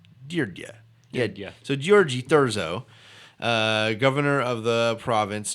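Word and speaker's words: György: it I've been calling your G but it's deer Jia pronounced it's gy Oh with a new flat rgy like Georgie Georgie and says this pronounced deer dia yeah DUI er D yeah deer yeah yeah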